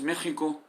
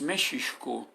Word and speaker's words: México: el mismísimo nombre de méxico solo que no es méxico con jota es méxico con una h en media que se pronuncia en una forma cultural pero muy leve y que debe escribirse